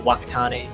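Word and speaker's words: Whakatāne: place in uh New Zealand by the way whakatani oh really yeah it's pronounced wakatane or it's spelled w-h-a-t-a something I remember but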